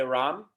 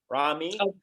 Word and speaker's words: Rahme: your last name it's it's pronounced in arabic in english you can say ram rami and french is rami because with the e at the end it's silent in english oh okay so